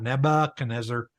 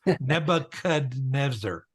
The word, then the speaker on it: Nebuchadnezzar: to a name like Nebuchadnezzar we can pronounce every letter in his name and it's it's not Nebuchadnezzar it's not Nebuchadnezzar it's Nebuchadnezzar because there's a D in there okay okay right and